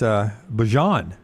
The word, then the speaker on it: Bajan: It's Bajan. Oh, it's not Bijan anymore? Bajan. He says we mispronounced it his entire career.